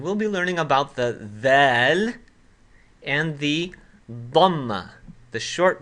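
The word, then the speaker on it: ذال: Now I'm going to write the dhaal as a DH. But of course, that's just an approximation for how the dhaal is actually pronounced in Arabic.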